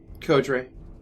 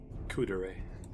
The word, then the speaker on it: Kodre: Kodre. Ah, that's okay. I was pronouncing it Kudre in my head. Sorry, Kodre. Thank you. That's fine. Kudere.